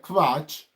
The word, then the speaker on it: Quatsch: So as we go further, so you can say this Quatch, I'll spell it for you.